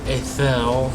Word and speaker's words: Athel: And I am going with Athel, apparently is how it's supposed to be pronounced. If you pay attention to the intro, it's Athel.